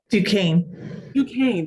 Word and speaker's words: Duquesne: She received her bachelor's in pharmacy from I'm going to mispronounce this, Trish, you're going to have to correct me. Duquesne, thank you.